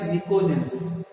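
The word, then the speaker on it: pnictogens: As P is silent here, I can call it as nicogens.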